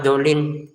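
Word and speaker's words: الضَّالِّينَ: Ah, setelah enam harakat tekan ke lamnya. Tekan. Kalau kita hanya baca enam harakat tapi enggak tekan di lamnya, salah. Contoh, walad dolin. Oh, kok lamnya enggak ditekan? Dolin tekan lamnya itu walin tekan dolin lin enam harakat.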